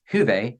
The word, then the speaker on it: hyve: Hive H yve and hyve actually is pronounced huve in Finnish which means virtue uh